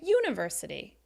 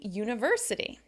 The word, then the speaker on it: university: is experienced University right sometimes people say University and it sounds a little weird it should be University what about patient right